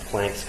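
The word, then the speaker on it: Planck: if you use the I'm from the Midwest so if you use the Midwest pronunciation as planks constant but PL is probably the more proper priation and N is some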